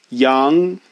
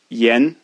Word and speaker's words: yan: So yi, ya, yang. Now this one you would think would be yan, but it's actually pronounced a little bit differently than ya and yang. It's yen, yen, yen, yen.